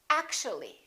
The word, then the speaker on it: actually: and we say basically take a look at this one actual wall three syllables actual but if we add the l y like here this disappears and we say actually actually we don't say